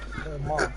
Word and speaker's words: Coman: Koma. That's how you say it.